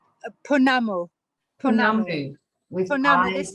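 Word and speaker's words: pounamu: You might have to help me with the pronunciation. Poanuma? Punamu.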